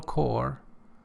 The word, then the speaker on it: Corps: life in the Medical Corps are not for the squeamish the problems and difficulties of life in medical corps well pay attention P is not pronounced and so it refers